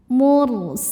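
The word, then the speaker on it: الْمُرْسَلُونَ: Ra sukun dibaca secara tafkhim karena sebelumnya dhammah, dibacanya tebal. Mursalun.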